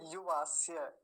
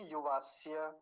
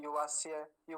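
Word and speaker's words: युवास्य: विशेष बताता हूं आपको क्योंकि य का पर ज्यादा ध्यान दिया नहीं जाता तो बहुत गलत उच्चारण हो जाता है युवास ऐसे जल्दी बोल के निकल जाते हैं युवास यु वास्य नहीं युवास य य का स्पष्ट उच्चारण आना चाहिए पीछे य वास्य अगला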